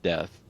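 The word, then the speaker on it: Deth: And just for anyone listening, death is spelled D-E-T-H. It's not like dead death. It's totally different.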